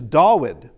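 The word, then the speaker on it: Δαυίδ: This actually doesn't say David because they don't have a a V. This is Dawid. That's the equivalent. That's the best they could do.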